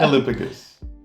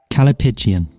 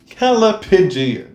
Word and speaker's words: callipygian: Callipygian? I guess it's callipygus. I don't know what buttocks is in Greek. Yeah. Callipygus. Callipygus. Callipygusian. Let's hear the actual pronunciation. Callipygian. Callipygian. That was right.